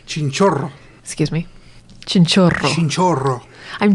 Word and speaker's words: Chinchorro: You gotta roll your R's better. Chinchorro.